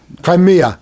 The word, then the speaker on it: Crimea: of them in particular crimea i think is what kamea i'm not sure how it's pronounced kermesha no c-r-i-m-e-a all right it's it's like ukraine's like i think it's like crimea crimea that's it crimea uh it's of room